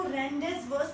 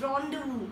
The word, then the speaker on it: rendezvous: सो जिसने भी इसको रेंडेस वर्स प्रोनाउंस किया गलत है. The right pronunciation is रॉन्डेवू. I repeat it once again, रॉन्डेवू. रॉन्डेवू means appointment.